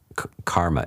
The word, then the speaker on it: karma: the mechanism by which kama, or as karma is the normal pronunciation these days, the Sanskrit pronunciation, karma, which is intentional, sort of emotion-based decision-making.